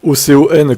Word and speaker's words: Ocon: Comment t'écris Ocon alors que ça s'écrit simplement O-C-O-N, comme ça se prononce quoi?